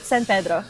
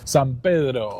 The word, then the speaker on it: San Pedro: How do you pronounce the last name? San Pedro. San Pedro.